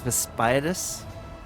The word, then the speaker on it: Vaspiadis: I didn't pronounce his name properly. It's Vaspiadis. Master Vaspias.